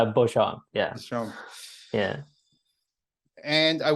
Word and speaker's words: Beauchamp: It's Beauchamp.